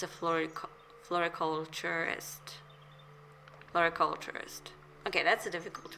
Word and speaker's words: floriculturist: My wife was a floriculturalist. Best in the field. I love how it's kind of it's spelled differently than he pronounced it because what he said was floriculturalist.